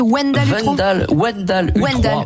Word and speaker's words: Wendall Utroi: Comment vous prononcez son nom ? Wendell Utroy ? Wendell Utroy.